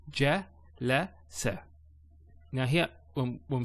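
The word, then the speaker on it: جلس: So ja, la, sa.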